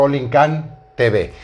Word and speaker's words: Olincan: Entonces, quizá visualmente de momento decimos es Olin, pero la pronunciación correcta es Olincan TV.